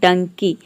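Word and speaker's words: donkey: बहना next rule है यदि किसी वर्ड में ई वाई हो तो ई वाई को हम ई प्रोनाउंस करेंगे फॉर एग्जांपल डंकी डंकी में आप देख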